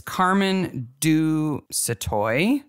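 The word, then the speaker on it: Carmen du Sautoy: It's Carmen Du Satoy. Yeah. S a u t o y.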